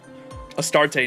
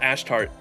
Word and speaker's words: Astarte: it's all servants right astarte not ashtart SMH translation team oh is that how you pronounce it astarte how you doing Jason